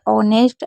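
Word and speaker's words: honest: कुछ वर्ड में H silent होता है। जैसे ऑनेस्ट, आवर, एयर। इनमें हमेशा एच को नहीं पढ़ा जाता है।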